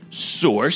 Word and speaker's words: Sorxe: here from the band source source it's spelled SOR X e now this goes out